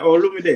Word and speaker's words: Olomide: Okay, how do you pronounce Koffi Olomide? Yeah, Olomide.